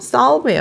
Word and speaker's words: solve: 여러분 그 solve라고 발음하지 마세요. solve예요. solve. 발음 기호상으로는 이렇게 돼 있거든요. 그러니까 알파벳과 달라요, 여러분. 알파벳은 A가 되면은 A인데 발음 기호로 이 A 같은 표시를 하는 건요. 소리가 아 소리가 난다는 얘기예요.